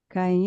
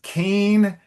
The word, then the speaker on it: Cain: Um, Caim e Abel.